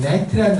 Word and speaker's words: gnat: 왜냐하면 여기서 이라는 말이 GNAT라는 net라는 단어, 이게 이 G는 묵음이에요. silent 그래요. 아무튼 묵음이니까 발음이 net이거든요.